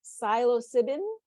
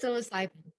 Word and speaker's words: psilocybin: Hannah's paper is entitled, I don't know how to say this, psilocybin. Is that right? Psilocybin. Psilocybin. I was off.